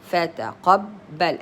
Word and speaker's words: فتقبل: شدة and a فتحة so it's said فتقبل فتقبل as if I'm saying twice B. The first one is silent B, like this.